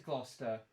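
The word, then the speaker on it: Gloucester: That looked like it said Glouester. I don't know what that is. That actually a town in the UK as well. Let's see. I It looks very British. That is Glouester Glouester.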